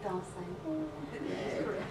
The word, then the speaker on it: Dasein: How do you pronounce that? As you did Dasein.